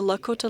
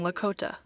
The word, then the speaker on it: Lakota: are committed to preserving Lakota normal rule is that the emphasis is on the second syllable Jeannine Antoine teaches the